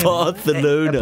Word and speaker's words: Barcelona: So apparently, in Barcelona, they Barthelona. It's pronounced Barthelona. Like that's how they Barthelona. Say it. I know someone that went there, and they were like, "Yeah, everyone like corrects you to say Barthelona."